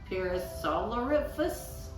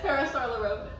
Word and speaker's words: Parasaurolophus: Parasolariphus? How do you say it? Parasaurolophus.